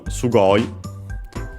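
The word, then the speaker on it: すごい: Then we have sugu uh which comes from sugoi. This one is not strange at all. Often you see it uh with this doubling of the consonant uh for emphasis of course. Sugoi uh accented is an adjective which means well technically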